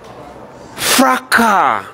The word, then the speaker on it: fracas: Where there is disorder, we say there is fracas. The S is silent.